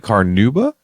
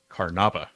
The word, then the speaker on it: carnauba: But is it carnauba?